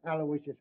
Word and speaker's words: Aloysius: Terence Aloysius Hogan.